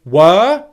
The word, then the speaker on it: were: first thing is to make sure that your w sound is a clear wha sound and not a v sound ver where your bottom lip is touching your top teeth that's the first thing and this actually applies to both were and wha pronunciation okay the second thing in were is the long english vowel sound this is one of